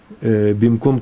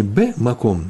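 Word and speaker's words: במקום: Но что точно произносится? Бимком. Не бэ-маком, на месте.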